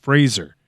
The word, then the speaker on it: Fraser: Brendan Frazier's name forever it's Brendan Fraser like razor get out of here